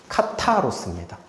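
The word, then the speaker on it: καθαρός: 그래서 이거 타입니다, 타. 카타로스입니다.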